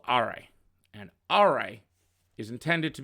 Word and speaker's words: Aurei: All right, so we have Aurei, is how you say it.